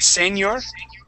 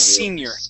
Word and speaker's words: senior: the word senior okay you had said Senor the word is senior try that please senior